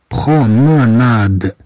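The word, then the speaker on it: promenade: مثلا كلمة بروموناد أننا نقطعها إلى مقاطع لفظية، هذه تنطق دفعة واحدة. نقول برو، نقول برو، نقول برو، ثم م نا نا ناد ناد ناد.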